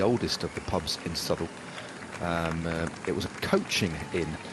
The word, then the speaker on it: Southwell: But we're just riding through the beautiful town of Southall. It's spelt Southwell, but it's pronounced Southall.